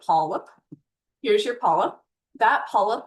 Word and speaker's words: polyp: Looks like polyup but polip.